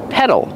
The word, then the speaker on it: pedal: feet on the pedals pronunciation pedal use a short s sound like red and 10 P pedal and the fast D in the middle pedal you have two pedals